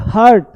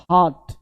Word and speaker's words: heart: अब लोग गलती बोलते हैं, लोग बोलते हैं हार्ट, हार्ट डिजीज है, हार्ट नहीं, हार्ट, हार्ट, इसका साउंड है हार्ट, ये साउंड क्या है भाई, हार्ट, हार्ट, हार्ट मतलब हृदय, इसको हार्ट बोलना है, हर्ट नहीं।